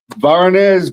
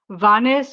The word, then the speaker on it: Vanes: very sad situation um related to Varnz Varnz which I which I'm probably not pronouncing right Vaness I'll let you say his name since I'm not um no worries Vaness Martien very good